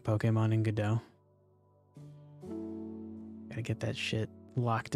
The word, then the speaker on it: Godot: Just before this was developing a game in the Godot engine. Or the Godot engine, if you are so inclined to mispronounce things.